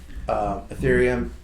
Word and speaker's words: Ethereum: That could hurt ETC a little bit, but if that doesn't go down, then I think you're going to see Ethereum, I said it right, and ETC both go up over the next couple Wait for the weeks.